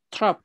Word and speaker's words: trop: Trop. Trop. Très bien. Trop. No pronunciamos la P, ¿no? Pronunciamos pas le P. On dit trop.